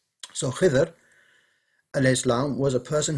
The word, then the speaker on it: Khidr: Khidr, so there's three ways of pronouncing this as far as I know. One is Khadir, one is Khadr, and one is Khidr. I'm going to say Khidr because that's the one I'm used to.